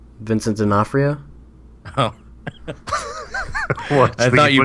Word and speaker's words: Vincent D'Onofrio: Vincent D'Onofrio. Oh. I thought you mispronounced it.